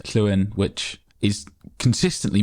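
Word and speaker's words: Llewyn: one of our names Kuen which is consistently mispronounced in the film the double L is a letter in and of itself in the Welsh alphabet which is was the sound.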